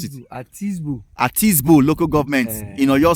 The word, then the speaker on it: Atisbo: Okay, you pronounce it. Atisbo.